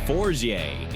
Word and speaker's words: Forget: The name is pronounced Forget. It is a French name.